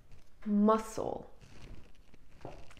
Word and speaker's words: muscle: It's muscle. Repeat after me. Muscle. And here the C is silent.